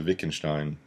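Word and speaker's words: Wittgenstein: making shine and so Vic and Stein that's the how to pronounce the WI ttg and st ein philosopher Witkin Stein V sound ok so what's an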